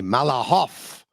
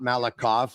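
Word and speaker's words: Malakhov: Ron Roosh would say, who was an expert with Russian pronunciations, he would say it would be Malahov and not Malikov.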